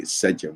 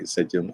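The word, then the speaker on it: sḏm: And so the M at the bottom is a phonetic complement, but that's, again, we say Sejum, or I say Sejum. I've heard it pronounced Sejum.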